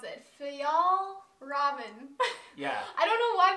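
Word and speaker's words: Fjällräven: It's the, we just Googled how to pronounce it. Fjall Raven.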